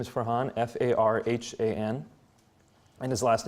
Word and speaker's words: Farhan: Farhan, his name is Farhan, F-A-R-H-A-N, and his last name spelled the same way mine is, Qureshi.